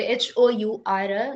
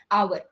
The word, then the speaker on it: hour: இட்ஸ் pronounced as hour. hour. H ஓட சவுண்டே வராது. அந்த மாதிரி ஒரு சைலண்ட் லெட்டர் தான் H. பட் அங்க H கான்சனண்டா இருக்கிறனால நீங்க அங்க போட முடியாது. Why? Because H is silent.